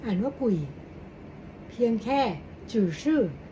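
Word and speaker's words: 鬼: ๆ ผี กุ่ย guui 0 3 อ่าน ว่า กุ่ย เพียง แค่ จื่อ ชื่อ Z hii เน 3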